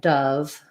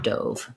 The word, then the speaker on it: dove: to rewrite you know if i write dove like that that really might help my brain to be able to know that it has that uh faux schwa rather than the o as in dove so those are all